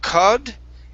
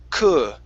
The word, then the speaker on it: could: Okay, and that word there, okay, instead of cud, it's an could.